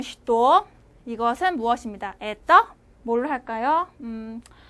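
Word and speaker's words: что: 쉬또라고 쓰고 발음은 쉬또.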